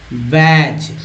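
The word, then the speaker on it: badge: बैज, बैज जिसमें D silent है, ठीक है, बैज, बैज मीन्स होता है बिल्ला।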